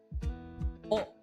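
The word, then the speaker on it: を: particle is read S O the W is silent.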